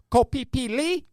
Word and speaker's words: Koh Phi Phi: It was filmed on the Thai island of Koh Phi Phi. That's how you say it.